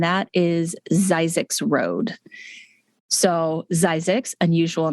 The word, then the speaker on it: Zzyzx: So Zzyzx, unusual name. It is spelled ZZYZX, and yes, it's an exit, so